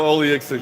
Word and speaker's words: Oleksiejczuk: Can you pronounce that? Because I can't. Michael Oleksiejczuk.